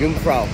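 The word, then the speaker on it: Jungfrau: युंगफ्राउ जे silent है।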